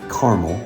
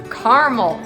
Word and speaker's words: caramel: you know peans and I don't say caramel that's an American word it's caramel it's caramel that's how it's spelled